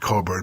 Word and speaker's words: Cockburn: And there was a woman whose name was Coburn, was pronounced Coburn, but it's spelled Cockburn, C-O-S-O.